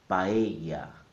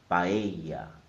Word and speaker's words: paella: The correct pronunciation is in 3 syllables. Pa, e, ya. The stress is on the E sound. So I'm going to say it 3 times. Paella, paella, paella.